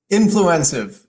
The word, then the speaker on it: Influencive: Influencive.